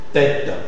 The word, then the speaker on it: tête: Tête.